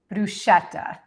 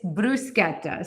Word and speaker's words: bruschetta: I hear a lot of people say bruschetta. We're not going to say that anymore. It's bruseta. So, please join me in saying it the proper way. Bruseta.